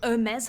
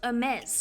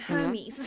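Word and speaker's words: Hermès: would probably know that it's pronounced Hermes or something similar and not Hermes.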